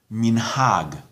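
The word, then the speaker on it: מנהג: As a general rule, the accent, the stress, the emphasis is on the final syllable. Shabbat, Siddur, the word for custom, minhag.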